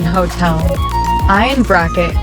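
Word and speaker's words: hôtel: H in bracket, ash. Silent in hotel.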